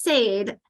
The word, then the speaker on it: said: word where if you look at relationships, that said is the past of say, like paid and laid, which are spelled the same way, are the past of pay and lay.